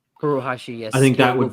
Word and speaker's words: Furuhashi: Is that how you pronounce his name? Furuhashi, yes.